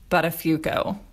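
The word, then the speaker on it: Buttafuoco: Joey's poor choices but his name is actually pronounced buttafuco what so we don't have to be guilty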